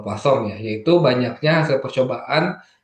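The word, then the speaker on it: Poisson: Di sini tulisannya poison tapi dibacanya ee pasong ya.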